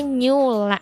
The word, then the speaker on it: NEU.LLA: Kamu juga kalau misalnya mau stalking dulu boleh banget ya, langsung aja di Instagramnya di NEU.LLA. Bacanya Nyula gitu.